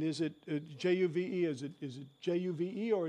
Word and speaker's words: JUVE: Is it J-U-V-E or is it Juve? No, it's Juve, if Juve. you pronounce it so German.